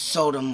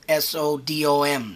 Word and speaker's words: Sodom: town, and declared Sodom, I believe it's pronounced Sodom with S-O-D-O-M, Sodom, which, what I got